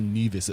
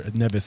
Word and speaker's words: Neves: I think I said neas was it or nevas in the beginning Nev yeah the way I WR to say is it's the number seven spelled backwards and pronounced backwards also pronounced backwards it's